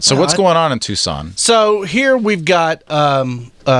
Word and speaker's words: Tucson: of tux on tuckson how do you say that Texas on Arizona Tucson Arizona how do I say it like you just had a stroke tux in Arizona and out of Tucson here's now yeah you're right is Tucson I don't know what I was thinking well do you would you imagine that Tucson is spelled with the C yeah it is weird it is weird just